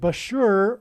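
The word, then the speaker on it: Bushehr: nuclear power plant and Bashur rhymes with Barker it is predicted that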